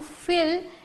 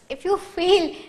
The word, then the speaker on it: fill: If you feel, see, just have a look at my pronunciation, not feel, it's fill.